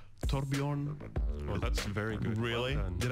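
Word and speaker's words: Torbjørn: It's not Thor is like the easy way of saying it, but like the original name would be Torbjorn.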